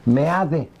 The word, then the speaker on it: Meade: Con el secretario de Relaciones Exteriores, José Antonio Meade. Dicen que deben de decir May, yo lo pongo Meade porque así se escribe.